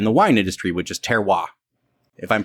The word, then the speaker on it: terroir: a lot in the wine industry, which is terroir, if I'm pronouncing that correctly. Yes. Thank you. And in the wine industry, terroir is the idea that the climate, the soil